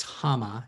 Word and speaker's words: Hama: is my mother's name as i mentioned it's hama and it's spelled h-a-m-a it's a japanese name hama i